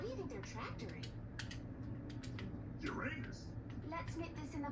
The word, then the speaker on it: Uranus: Besides, the proper pronunciation is Uranus. It's a dactyl.